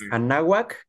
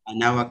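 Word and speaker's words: Anáhuac: course, of studying in Mexico, specifically with Universidad Anahuac, Cancun. Did I pronounce it correctly, Christian? Hopefully, I did. You did, Lonel. That's right. It's Anahuac, Cancun. All Perfect. right, Anahuac, Cancun.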